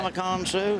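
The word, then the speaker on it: Ndamukong Suh: Damakong Su?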